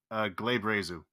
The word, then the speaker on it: glabrezu: Also, just as a thing, that demon has 3 fucking pronunciations, but the most common one is Glabrezu.